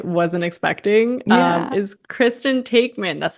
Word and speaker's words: Taekman: is Kristen Taekman.